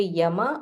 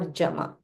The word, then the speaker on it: Yama: So you can either say Yama or Jama.